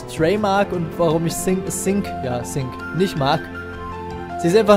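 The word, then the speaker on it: Sice: Es wird also Sync ausgesprochen, alles klar.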